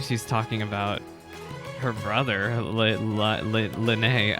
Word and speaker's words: Lyney: talking about her brother Lanae I'm sorry I'm getting used to the pronunciation because I've been calling him Lighty for like years now anyway he's a punk